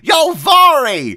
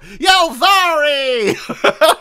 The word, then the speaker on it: Yalvari: Oh, Yalvari! That's not how that's pronounced at all. I was saying that completely wrong. Yalvari!